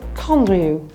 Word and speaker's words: Condrieu: EU is pronounced U in French, so it's Condrieu.